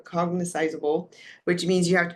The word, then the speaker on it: cognizable: be what they call cogniz Cog I'm saying it slow I'm saying it wrong here cognizable which means you have